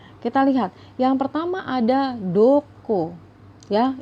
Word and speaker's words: どこ: lihat yang pertama ada Dukuh ya ini dibacanya adalah Dukuh ya duku duku ini artinya adalah kemana